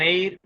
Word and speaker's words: heir: And an honorable man, an heir, an honest man. So in this all words, H is silent, right?